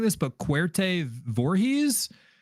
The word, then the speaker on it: Voorhees: The director's name, the film's writer and director, is a director named, and I might be mispronouncing this, but Cuarte Voorhees. Voorhees. Like Jason Voorhees.